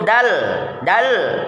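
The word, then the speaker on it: د: Kemudian huruf berikutnya yaitu huruf dal. Ya, cara bacanya yang pertama, tempelkan permukaan lidah bagian ujung pada akar dua gigi seri bagian atas.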